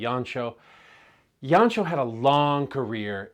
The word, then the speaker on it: Jancsó: films from the 1960s yanchow sometimes you'll hear his name pronounced yankso because of the spelling the hungarian pronunciation would be yancho yancho had a long